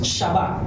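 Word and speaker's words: שבת: Sabat o sa hebreo ang pronounce nila roon is shabat sabi doon sa Lucas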